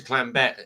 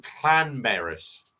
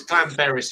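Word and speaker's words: Llanberis: this year uh but we normally go to Clan be it's actually pronounced Clan beis there two l so it's Clan Baris in Wales um but we normally stay at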